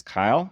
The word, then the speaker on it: Kiel: As I mentioned, my name is Kyle, rhymes with mile, and I would appreciate your vote on November 5th.